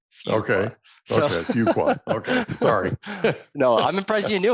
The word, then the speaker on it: Fuqua: So they tell you the first day, the way you learn to pronounce it is few qualify. Okay. So, Okay. Fuqua.